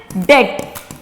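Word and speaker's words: debt: इसे कहते हैं बैड डेट क्या कहते हैं बैड डेट इसमें भी बी साइलेंट है दिस इज बैड डेट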